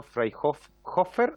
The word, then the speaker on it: Freyhofer: Eh, Íbamos a entregar la palabra al señor Marcelo Freyhofer o Hoffa. ¿Cómo si nos ayuda con el apellido para pronunciarlo correctamente?